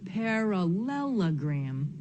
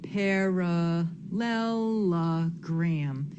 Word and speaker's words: parallelogram: So, I have parallelogram. Hmm, how did I know that? In parallela gram. We don't say paral lelo gram, right?